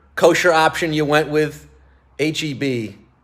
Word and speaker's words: HEB: Enjoy the olive and June, the backspace, the HEB, whichever kosher option you went with. HEB. It's not pronounced Heb, right?